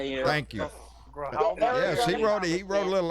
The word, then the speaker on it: Grijalva: Grijalva. Thank you. Grijalva.